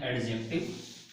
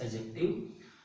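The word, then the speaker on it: adjective: Mostly student इसको pronunciate करते हैं एडजेक्टिव। Actually the correct pronunciation of this word is एडजेक्टिव।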